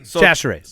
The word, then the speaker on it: Chachere's: think I butchered it real bad in the beginning because I said it too slow. You need to say it quick. Chachere's.